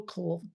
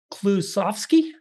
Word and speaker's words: Klusovsky: And today with me, I have Will Kukulski. Kukulski. Did I pronounce it correct?